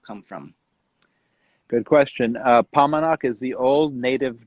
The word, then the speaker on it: Paumanok: paumanok I was like it's three syllables nobody knows what it